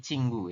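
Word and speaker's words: 친구: ini kemudianing Cing Iya ini dibacanya bukan cingu tapi cinggu ya Cing cingu seperti ini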